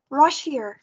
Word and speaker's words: Russia: Thì chúng ta đã đọc từ này là Russia. Here. Russia. Đúng rồi. Và chúng ta có trọng âm là vào âm đầu tiên.